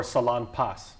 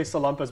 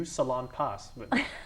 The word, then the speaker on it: Salonpas: of our photographers now is it pronounced salompes or Salonpas that product everybody gets this one wrong I don't know I hear salamas yeah people here say salamas but you hear you